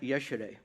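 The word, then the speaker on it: ieșire: figure out what these signs meant so it's pronounced yesterday I keep thinking the meaning of the word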